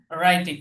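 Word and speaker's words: writing: ডবউর উচ্চারণ আসবে না ডবলিউ এটার উচ্চারণ আসবে না আফার আই ল ফিনিশ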